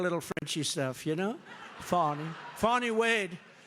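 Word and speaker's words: Fani: f F it's F ni I but they pronounce it fonny how do you could would if you had the name if you had the name f a n i it's called Fanny right how do you get fonny I think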